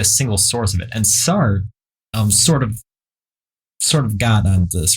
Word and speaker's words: Sartre: Jean-Paul Sartre. Yeah. Jean-Paul Sartre.